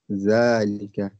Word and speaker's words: ذلك: Note, zalika is pronounced zalika, but it is written without the alif.